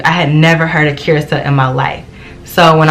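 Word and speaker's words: Curaçao: YouTube that I saw like, oh, it's actually pronounced Curacao. But I had been calling it Curacao for like weeks, okay?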